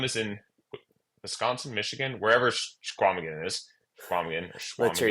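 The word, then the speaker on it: Chequamegon: One of them is in Wisconsin, Michigan, wherever Squamigan is, Squamigan or let's hear you Schwamigan, say whatever that you again. pronounce. Yeah, Schwamigan.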